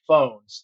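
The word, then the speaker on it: Fownes: was founded by Henry phones uh it's spelled f NES but it is pronounced like telephone uh Henry was a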